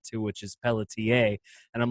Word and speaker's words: Pelletier: gets tricky for people too sometimes because they're like Mr. Pelletier. I'm like, it's Pelletier. Like, oh, Mr. Pelletier. Okay. And then I've even gotten someone giving me the French accent too, which is Pelletier.